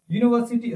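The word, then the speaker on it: university: मैंने आपको अभी बताया है कि भले इसकी स्टार्टिंग, इस वर्ड की स्टार्टिंग यू के साथ हो रही है, लेकिन इसका उच्चारण जो होता है वो वाई यू के साथ होता है, तो इसके साथ क्या लगता है, ए आता है ना।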